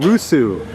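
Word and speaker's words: Roseau: is working anymore anyway we're in russu as they pronounce or so here the capital of Dominica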